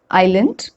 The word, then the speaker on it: island: is silent letter s s is not pronounced when it comes before l in these words island isle isle islet and